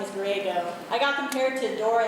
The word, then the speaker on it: Griego: So it's actually pronounced Griego, like San Diego, or like Go Diego Go, which I love him so much.